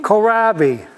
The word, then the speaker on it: kohlrabi: I don't know how to pronounce it. Kohlrabi.